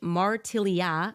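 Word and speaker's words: Martiliat: led to a persecution in 1747 in which Martellia I'm going to spell that for you guys.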